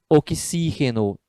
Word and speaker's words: oxígeno: Oxígeno, né? A terceira sílaba tônica, esdrúxula.